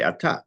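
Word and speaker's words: אתה: we say in Hebrew, we say atah, you put the accent on the second syllable.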